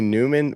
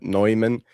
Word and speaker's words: Neumann: It could be Newman, which is like normally how you'd pronounce it. But, Neumann is how you would pronounce it if in the original Prussian form.